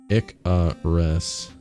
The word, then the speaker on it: Icarus: it Icarus is pronounced Ika res the first syllable rhyming with pick name comes from the